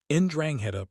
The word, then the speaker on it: 'Ndrangheta: Ndrangheta, pronounced Ndrangheta, roughly translates to heroism or virtue in the old Calabrian dialect.